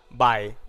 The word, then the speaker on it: BHAE: Pero bueno, quedó Bae porque somos de San Juan y lo decimos como claro. se escribe.